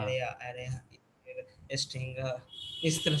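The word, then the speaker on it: array: एरे एरे sting, इस तरह से वो लोग मतलब बोलते थे। लेकिन ब्रिटिश प्रोनाउंसिएशन में एरे ही बोल रहा है, वो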